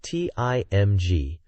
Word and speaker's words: TIMG: The chosen name, picked by Master Akashi and Katoki Hajime, is TIMG, pronounced Tim G.